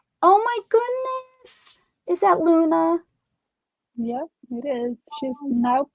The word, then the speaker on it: Luna: No, it's Luna. Luna? It's spelled the same way, but the pronunciation is a little bit different. So, Luna. It's that emphasis.